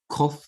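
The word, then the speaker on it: קוף: Okay, kof is k, as in kitty, again, okay, like kaf, kof, kaf. Kaf with the dagesh makes the same sound as kof.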